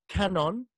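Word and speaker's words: Kannon: this Bodhisattva is called Kenan that is the Japanese pronunciation of Guan Yin canon you see the buddha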